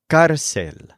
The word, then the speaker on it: cárcel: The word for jail is cárcel, and the word for prison is prisión. They're both feminine nouns, and they're both spelled with an accent mark on the stressed syllable.